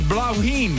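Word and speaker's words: Bláithín: He wrote, it's pronounced as blauwheen.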